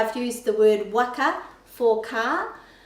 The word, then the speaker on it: waka: commonly say waka, but the pronunciation of the letter A in Te Reo Māori for any word with A is A, not O. So A, W-A-K-A, waka, waka.